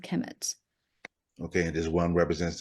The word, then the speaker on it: Kemet: They're both pronounced Kemet.